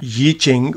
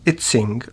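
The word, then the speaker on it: Yijing: Yi Ching, whose name in English is variously spelt and pronounced as Yi Ching, Yi Ching, and Itzing, was a Chinese Buddhist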